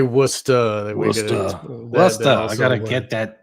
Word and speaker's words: Worcester: This is Hoagland sending something to Esther Brooks from Worcester, I guess. Worcester. I'm obviously not from the East Coast. Yeah. You could say Worcester.